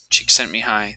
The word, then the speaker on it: Csikszentmihalyi: as an idea, along with his counterpart, Mikhail Csikszentmihalyi. That's his last name and how it's pronounced.